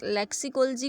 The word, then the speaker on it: लेक्सिकोलॉजी: लेक्सिकोलॉजी को हम लेक्सिकोलॉजी बोलेंगे, लेक्सिकोलॉजी नहीं बोलेंगे।